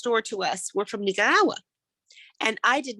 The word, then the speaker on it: Nicaragua: say it correctly and i spent hours and hours and hours rolling my tongue nicaragua and i practice and